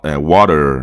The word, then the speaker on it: water: Porque essa vogal fraca praticamente vai substituir o R do americano, water, né? Então aqui, water, e aqui a gente tem o som do U, né? Na verdade é um som U, né? E tem o O aqui prolongado, esse Czinho ao contrário é o som do O.